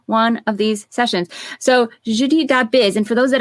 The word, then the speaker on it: Jeudi: is right there right JY is your name pronounced Judy you know I always thought it was Judy it's Judi Judy my good and you're by the way French